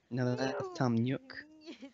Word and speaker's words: Nook: Nook. That's how you pronounce that.